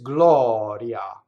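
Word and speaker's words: gloria: So in our first word, we have an open O, and that's done by the broken circle. It looks like a backwards C. That's for open AW, aw. So it's Glɔria. Now, if you notice, the I in that word is what's known as a semivowel. It's not a full E, right? So if I did it as a full E, it would be Glɔria.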